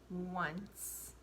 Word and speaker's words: once: new word okay so it's spelled oh and see e and the word is once what's the word once here at W at the beginning just like when you have the word one right but the W isn't really there it's oh and ce-1